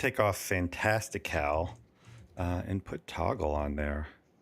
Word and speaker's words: Toggl: Okay, so since that's time management, I'm going to take off Fantastical and put Toggle on there. It's actually TOGGL. Of course it is. Extra cool without the extra syllable.